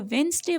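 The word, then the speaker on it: Wednesday: यहाँ पे डी एंड एस, मतलब जो वेंसडे वर्ड है, वेंसडे में डी एंड S word silent है और हम पढ़ेंगे वेंसडे, थर्सडे, फ्राइडे, ठीक है,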